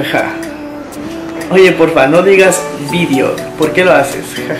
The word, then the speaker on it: vídeo: Yo digo vídeo. Aquí en Ecuador dice video, con el acento en la E. Video, sí. En España se dice vídeo, ¿ok?